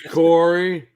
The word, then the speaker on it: Corey: that's what they're referencing my name's corey rhymes with story what else is right